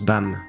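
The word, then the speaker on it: 밤: En coréen, la nuit se prononce Bam, et violet peut être interprété comme étoile.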